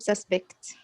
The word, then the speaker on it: suspect: When you use a noun, when you say it as a noun, the first syllable is stressed.